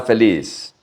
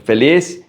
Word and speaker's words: feliz: Soy una persona feliz. I am a happy person. Also, the Z in feliz sounds like an S.